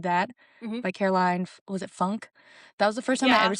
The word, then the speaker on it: Funke: It has like an E on the end, right? Yeah. I think it was Funke. And literally, the first time I said it, I was like, Caroline, to my mom.